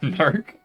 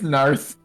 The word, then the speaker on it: Narth: He's Nark? he's over. Wait, what did I say his name was? Nark? Narth. Is his name Narth or Nark? It's Narth.